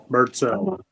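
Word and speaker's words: Birdsell: Bird cell.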